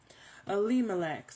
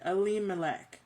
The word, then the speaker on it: Elimelech: Elimelech. Sorry, girl. I wanted to make sure I say his name right. Elimelech, okay?